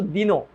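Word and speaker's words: দীন: দীর্ঘের উচ্চারিত রূপ হচ্ছে হ্রস্বই, সে হ্রস্বের মতো করে উচ্চারিত হয়। এই কারণে যখন আমি দিনো, এটার উচ্চারণ কিন্তু দিনো, নট দিন, দিনো।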